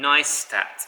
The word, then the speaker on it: Neistat: held Voice audition and you pronounce it nice nice tat yes nice like a tattoo as far back as